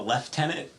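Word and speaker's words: lieutenant: I think I'm a left tenant because I decided I liked the British pronunciation for I hate it so much.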